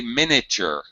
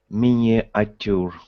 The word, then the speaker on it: miniature: moving on uh Anatoli you should not say miniature what should you say I should say Minature Min that's right Minature